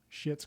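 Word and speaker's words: Schitt's: so this this this is gonna sound like a curse word i'm just prefacing this but it's a really funny show shit's creek have you seen that show but it's spelt like s-c-h-i-t-t-s that's like the name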